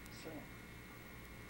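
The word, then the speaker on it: sliem: As a matter of fact, the Jewish people say shalom, we say slim.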